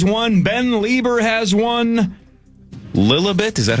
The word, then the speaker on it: Lilibet: Lilibet, is that how you say it, Marnie? Lilibet.